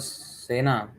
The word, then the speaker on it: Sen: Although we pronounce it as Sena, but actually it's Sen.